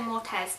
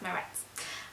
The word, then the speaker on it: Moretz: head was Chloe Moretz I always want to say more tests but I think it's pronounced my reps obviously she played Hit